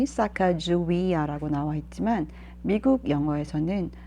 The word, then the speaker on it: Sacagawea: One of the scouts brought his wife, Sacagawea.